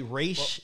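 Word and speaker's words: Ra's: it yeah and then ross and raj apparently race race is the correct race yeah like race race is how you're supposed to like calling him rods was supposed to be like disrespect i mean they was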